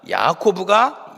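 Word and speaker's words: יעקב: 근데 이것을 이제 히브리어 발음으로 하면 야곱은 야콥이라는 이렇게 발음이 되고 야복은 야복라는 이제 이런 발음이 되고 씨름하다는 아바크라는 단어입니다. 그러니까 야코브가 야포크에서 아바크했다 하면은 뭔가 이제 언어의 유희를 사용해서 이 본문이 시작되고 있다는 것을 알 수 있습니다.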